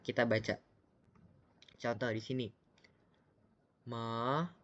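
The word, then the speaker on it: 妈: Ma itu nada 1. Cara bacanya sendiri harus datar, seperti lambangnya yang datar.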